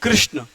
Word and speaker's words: कृष्ण: बोलेंगे क आर आई इसको हम कृष्ण बोलेंगे है ना कृष्ण बोलेंगे तो ये देखो यह आई है और यहां पर ए है यह अंतर है र का जो उच्चारण जो क्रम में लग रहा है वह अ है और कृष्ण में जो क्री लग रहा है वह आई है यह चीज आपको समझाने